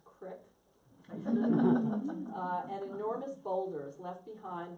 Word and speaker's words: creek: The landscape is hills, bays, creeks, which I know I'm supposed to pronounce crick, and enormous boulders left behind when the glaciers of the last ice age receded.